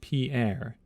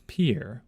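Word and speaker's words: Pierre: grade teacher she was pronouncing the state capital of South Dakota Pier wrong but she kept saying P two syllables like the French name and he said it was Pier one syllable like what you fish off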